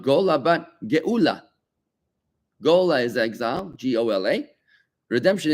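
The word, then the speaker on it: גאולה: Gola, Gola means exile. And how do you say redemption? Not Gola, but Geula.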